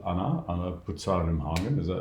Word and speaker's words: Anna Pucar Rimhagen: Right, so today we're going to have a chat with Anna Pucar Rimhagen. I'm pronouncing it correctly, right?